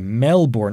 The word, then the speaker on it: Melbourne: But, and this is a huge but, because a lot of Australians insist that it's always pronounced Melbourne, but it can be officially also pronounced Melbourne, if you're an American speaker, or if you're a Canadian speaker, and obviously I'm using